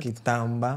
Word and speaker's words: Quitamba: coração a todos vocês, principalmente a nossa convidada, Kitamba. Certo. Kitamba. Sim, sim. Marinela Kitamba.